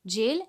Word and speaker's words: gaol: Spelling is different, but the pronunciation is same, jail, and meaning is also same, jail.